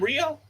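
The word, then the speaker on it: Rhio: So yeah, it's spelled R H I O. So I'm glad the 20 pound Rio is not the one we've been.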